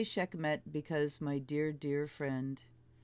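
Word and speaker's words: Sekhmet: that's cool Ron abuse Sedna abandonment she's native Scheck met empowerment and I say Scheck met because my dear dear friend who was Egyptian and a priest pronounced it that way empowerment she'll in a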